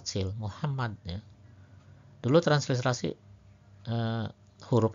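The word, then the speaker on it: محمد: Jadi tuh berikutnya huruf H pada Muhammad H kecil berbeda hasilnya dengan huruf H pada lafaz Allah yang pakai H besar sebenarnya. Kalau di Muhammad H kecil, kalau Allah H besar ya.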